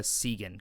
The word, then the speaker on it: Segan: what that experience was like working with Noah Segan, correct? Is that the pronunciation?